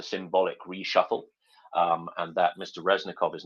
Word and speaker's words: Reznikov: Do we not know what's happening with what's concerning Minister Reznikov? Did I pronounce that correctly?